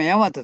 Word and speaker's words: 日本: てるわけですけど日本が大和政権側は違うんです大和なんですやっぱり日本に帰ったけどどっちもヤマトと読むんですだから